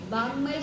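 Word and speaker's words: वाङ्मय: देखो यह संस्तुतः सकल वांगमय वांगमय शब्द है। जो बीच में है उसको ग शब्द अंग शब्द ऐसा प्रोनाउंस करते हैं। तो वांगमय शब्द बनेगा।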